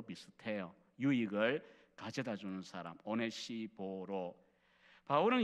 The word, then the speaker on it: 오네시보로: 발음이 우리말은 조금 그렇긴 합니다. 하기가 어려운데 헬라식으로 그냥 발음은 오네시포로스라고 하는 이 발음입니다.